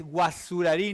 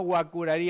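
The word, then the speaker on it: Guaçurarí: Es que desde la primaria cuando nos decían es guasurarí, no guacurarí, Andresito, es guasurarí, pero nunca más nunca más te olvidas que la la Cedilla se le se pronuncie como como Z.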